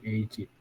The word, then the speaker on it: Egypt: G-nya dibacanya J, jadi Egypt.